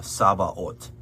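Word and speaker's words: Sabaoth: what you expect right note particularly that th uh makes a a t sound not the f sound that you might be expecting um and that's in saba ot it looks like saba but it's um the vowels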